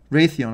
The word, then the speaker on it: Raytheon: RTN is the Raytheon, I should say. That's how you pronounce it.